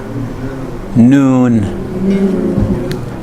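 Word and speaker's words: نون: I am in mother this one is noon noon that's n as Nancy the way it sounds in noon okay this is how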